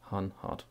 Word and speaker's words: Hanhart: And that's the correct pronunciation, Hanhart.